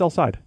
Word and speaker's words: El Said: He said it's El Said.